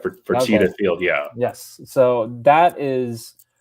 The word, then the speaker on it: Fertitta Field: That's right, Fertitta Field, yeah.